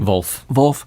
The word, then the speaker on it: Volf: How do you pronounce his last name? Volf.